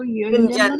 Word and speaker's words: युञ्जन्न: Mataji, this will be pronounced as yuñjann evam, Yeah, but it is written double N, so yuñjann. yuñjann.